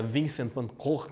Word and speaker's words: Van Gogh: aqui é sobra de vincent van gogh ou na pronúncia correta vencendo cor né e é essa